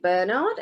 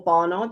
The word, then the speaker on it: Bernard: So this is Richard Bernard, or Barnard, depending on how you want to say his name, and it's a guide to the grand jurymen, published in London in 1629.